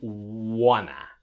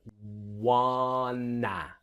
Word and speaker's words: wanna: we can contract to wanna, all right? So let's get the pronunciation. The wanna, wanna, wanna. So want to will become wanna.